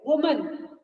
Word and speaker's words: woman: Remember, children, this word is woman, and there is difference of pronunciation between these two. It is woman, woman, and it is women. Plural is women.